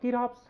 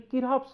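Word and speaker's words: Kirchhoff: in this thing so actually the C should remain silent in pronunciation it will be Kir's laws right so C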